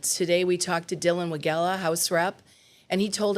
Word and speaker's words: Wegela: I want to welcome State Representative Dylan Wegela. Thanks for being here today. Thanks for having me on. Also, thanks for pronouncing the name correctly.